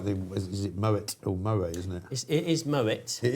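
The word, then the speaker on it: Moët: The Moet the say there's no silent t cuz I think it's German.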